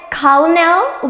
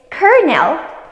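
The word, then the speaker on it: colonel: word if you said colel with an l sound you got it wrong the correct pronunciation is Kernel with an R sound a colel is an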